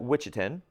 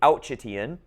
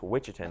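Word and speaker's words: Ouachita: So the witchin that's how you pronounce that witchin. Okay. I know it looks to be outian. It's witchin though.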